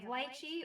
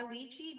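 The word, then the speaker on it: lychee: We have litechi or luchi depending on how you like to pronounce that because everyone's different.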